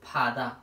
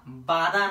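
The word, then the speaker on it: 바다: उच्चारण हुन्छ ल हेर्नुहोस् यो फादा बाधा नभएर यो फादा भयो बाधा भन्नुभयो भने तपाईँले उच्चारण मिस्टेक गर्नुभयो बाधा हुँदैन यो फादा हुन्छ फादा भनेको समुद्र र यो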